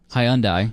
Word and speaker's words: Hyundai: All right, so I have a 2013 Hyundai, which is how you say it, by the way.